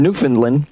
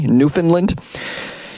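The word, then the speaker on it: Newfoundland: of Canada police in newfinland did I say that correctly newfinland it looks like you would pronounce it New Foundland or New Foundland but I think it's New Finland um please call me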